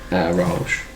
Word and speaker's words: Arosh: and it's pronounced phonetically. Arosh.